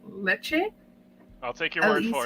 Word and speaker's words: Lecce: AC Milan's 3-0 win over, I think it's pronounced Lecce.